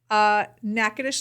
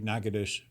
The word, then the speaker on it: Natchitoches: Natchitoches, Louisiana.